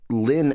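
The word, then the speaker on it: Lin-Manuel: I was five because the pronunciation of my name changes depending on where I am so to be Lynn at school because I couldn't take Lyn Manuel or Lyn Manuel I was like Lynn Lynn is fine and then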